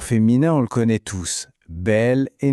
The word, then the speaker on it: bel: Et bien juste pour que ce soit plus joli et plus fluide à prononcer, on utilise belle et nouvelle. On dit un bel homme ou un nouvel ami.